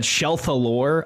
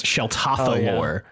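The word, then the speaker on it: Sheltatha Lore: There was one from the last episode we just released where we said Shelthalore a lot, and it's Sheltathalore is her name.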